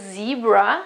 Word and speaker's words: zebra: well, and it is zebra in English, so you can hear the difference of the pronunciations. So it's not a zebra in Italian, but it is zebra, zebra, zebra, zebra.